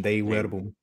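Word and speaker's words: Dei Verbum: But yeah, in De Verbum, especially in chapter 6, which is the proper pronunciation, De Verbum.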